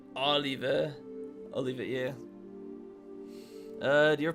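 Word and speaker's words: Olivier: Worst character, remember his name is pronounced the French way Oliver.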